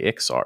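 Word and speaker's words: Iksar: As long as you don't say Iskar, we can be friends. Okay. Yeah. People who say Iskar, like, it's definitively Ixar, right?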